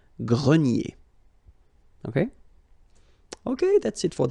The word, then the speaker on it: grenier: Remember this R here at the end will give you the sound E, nier, grenier.